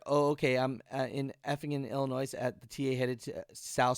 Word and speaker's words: Illinois: me see let me see is silent in Illinois Alex okay so Chicago